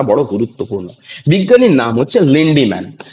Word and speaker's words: লিন্ডম্যান: বিজ্ঞানীর নাম হচ্ছে লিন্ডম্যান। কি না? বিজ্ঞানীর নাম হচ্ছে লিন্ডম্যান, কিন্তু এটাকে একটু বানানটা, ইংরেজি বানানটা দেখে নেবে, কথাটা হচ্ছে লিন্ডিম্যান।